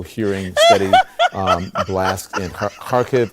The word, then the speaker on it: Kharkiv: steady um blast in kharkiv or kharkiv parkv is how she is pronouncing it there um and that